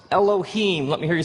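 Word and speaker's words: אלהים: it would look something like this and it's pronounced Elohim let me hear you say Elohim in the beginning Elohim created the heavens and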